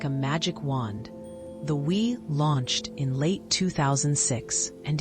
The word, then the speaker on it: Wii: The Wii, pronounced Wii, was a small, sleek white box, but its